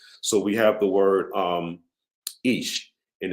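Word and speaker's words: איש: The word ish, okay, because we know according to Hebrew grammar, they're saying that the word, that the aleph is actually silent. So we have the word ish, and it's spelled the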